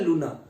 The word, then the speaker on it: lunar: से संबंधित होता है लूना, LUNAR, इसको बोलते हैं लूना। आर वाला साउंड प्रोनाउंस नहीं करते।